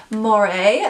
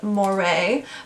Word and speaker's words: Moerie: watching okay so i'm pretty sure you pronounce this moire but they have a